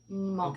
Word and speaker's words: Hmong: but if you pronounce it, with the English accent, it's Hmong. Hmong. Okay. So kind of a silent H.